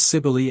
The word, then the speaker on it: Cybele: Thus Cybele and Penates are words of 3 syllables.